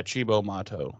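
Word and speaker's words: Cibo Matto: to see that weird band that i can't pronounce the name of shibo mod motto yeah chibo motto that's it um you know willow's kind of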